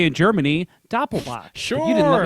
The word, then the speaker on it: Doppelbock: Isn't it Doppelbock? Well, it's Doppelbock, but Yeah. they Right. spell it on here the American way, Doublebock.